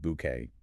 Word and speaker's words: bouquet: Same French rule. You silence the final T. It is pronounced bouquet.